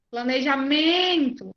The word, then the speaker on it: planejamento: Planejamento é MEN.